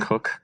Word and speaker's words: Koch: Cook. Coke or Koch? Koch. Cook. I think he says Cook?